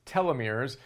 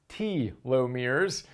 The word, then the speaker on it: telomeres: we have in this episode is the proper pronunciation of telomeres I always thought it was telomeres they tell us it is T lo mirrors again Elizabeth Blackburn discovered telomerase which again is